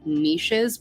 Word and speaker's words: niche: of a controversy on how to pronounce Niche I get it on my Channel all the time I I have a lot of commenters that right and e-e-s-h like people just write